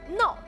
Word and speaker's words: 臑: 这个字我们专门查了，念闹。对，闹脾气那个闹的发音哈、啊，叫痹闹穴。